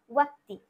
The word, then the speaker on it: व्यक्ति: তাহলে এই ব্যক্তিটা আমরা যখন ব্যক্তি বলছি বাংলায়, এটাকে কি বলবো? ওয়াক্তি। ওয়াক্তি বলবো, হর্ষ ও কয়টাই হসি, ওয়াক্তি।